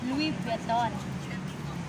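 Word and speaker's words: Louis Vuitton: ito ang aor mag Oo nga ay ano Louis beeton ang pronounce Hindi nga hindi daw Luis biton Louis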